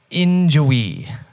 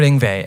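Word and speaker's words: Yngwie: it until i heard an interview how you pronounce it i was calling him injury until i found it and i discovered inva and um i heard him playing a song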